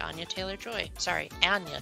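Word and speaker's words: Anya: Ana Taylor Joy sorry Ana Taylor Joy it's pronounced like an aneurism according to the actress herself then let's move on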